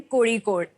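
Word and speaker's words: Kozhikode: ये IIM कोझिकोड कैसे pronounce करते हैं? ये IIM कोड़ीकोड।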